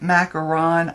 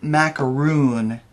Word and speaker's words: macaron: the mint macaron and i am pronouncing that right it's mint macaron I don't know why they called it that because I I just so want to call it mint macaroon but that's it knit McCarron hmm maybe in